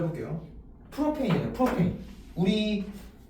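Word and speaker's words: propane: 그래서 프로페인이 아니라 프로팡카스라 그랬어요. 프로팡가스 영어로 프로페인 이거거든요. 프로페인 이거 뭐야?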